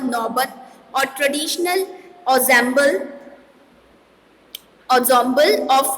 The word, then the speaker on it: ensemble: So here the word ensemble means इसे examples नहीं pronounce करेंगे, its correct pronunciation is ensemble.